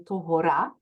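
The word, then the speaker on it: tohorā: had to practice also how to say this in the right way it's pawakai and tohora so Totowa had to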